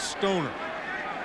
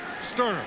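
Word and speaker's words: Stoerner: watching him Little League everybody would pronounce his name wrong they would say it it was stoner well Linda we got it right sterer that's right and I know she's in the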